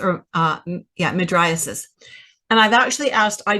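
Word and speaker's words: mydriasis: actually asked I doctors how do you say this word and they they struggle with it too midias is usually how we say it you might have another variation of it so madis means large pupil so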